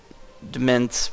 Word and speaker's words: demesne: you actually decrease your domain size? As you can see up here at the top, for Demesne, which is how I've been pronouncing it, but I guess it's actually pronounced domain, but the number of